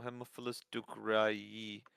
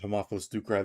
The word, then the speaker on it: Haemophilus ducreyi: No, Haemophilus ducreyi. Oh, Haemophilus ducreyi? Mhm. Yeah, yeah. Haemophilus ducreyi. On also literally have the the the thing right there. You do cry with Haemophilus ducreyi.